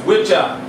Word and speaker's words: Wicca: One answer relies on the roots and development of words, which derives from the Old English Wicca, pronounced Witcha, and meanling male witch